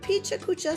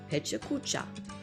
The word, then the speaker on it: Pecha Kucha: picture kucha some say picha kucha some say hey chakucha it is pronounced pecha kucha in japanese from what i've learned